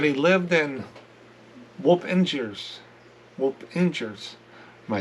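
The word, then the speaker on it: Wappingers: Is Whoop-Ingers. I called it Whappingers. It's Whoop-Ingers. Local pronunciation, not Chicago pronunciation.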